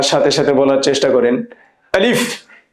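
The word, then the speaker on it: ألف: আমি হরফগুলো যেভাবে উচ্চারণ করি হুবহু সেভাবে উচ্চারণ করার চেষ্টা করবেন। আলিফ।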